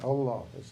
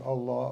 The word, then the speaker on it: Allah: this keep reoccurring reoccurring one of the things about pronouncing Allah Allah Allah is when you you PL them together the H of the previous Allah is the way you start the second one so it's Allah okay so it's Allah